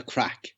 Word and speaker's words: craic: of doing it and we call it the crack and we don't actually spell it in the the way they spell it now craic we always spell the crack it's an anglo uh norman word and that's where we